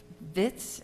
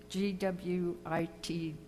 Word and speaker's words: Gwitz: Mrs. Vitz, is that how you pronounce her name? G-W-I-T-Z. Do you think I'd know how to say that? Vitz? Is that it? What? Gwitz.